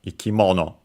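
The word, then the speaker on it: 生き物: All of the following noun, which in our case is ikimono, a compound uh of strictly Japanese origin between uh accented by the way on the mo ikimono.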